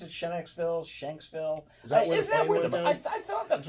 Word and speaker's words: Shanksville: Pennsylvania today or shville is that how you pronounce it Shen xville Shanksville is that I thought that's where went I